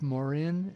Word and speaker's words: Morin: And so Christophe Morin, a French fan from Paris. I think I pronounced it right.